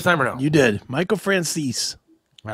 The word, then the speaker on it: Michael Franzese: Michael Franzese. Did I say it right this time or no? You did. Michael Franzese.